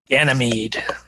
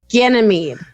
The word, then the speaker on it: Ganymede: Am I pronouncing that right? Ganymede. Feigang Fei. Ganymede.